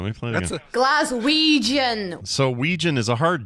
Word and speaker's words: Glaswegian: Glaswegian, Ouija, like Ouija board, Ouija. That's a soft G, Claire, not a hard G.